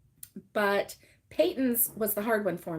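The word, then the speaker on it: Patons: it pronounced and so I wasn't sure if it was patents or patents or um but yeah he confirmed that it was Peyton's so now I know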